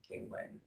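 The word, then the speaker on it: Ganglani: It's G-A-N-G, like the word gang, L-A-N-I, Gangland.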